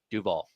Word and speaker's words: Duval: a good edition of Duval. Duval. I'm not from Jacksonville, but I know that's not how you say it. Jack, he put the stress on the A instead of the U.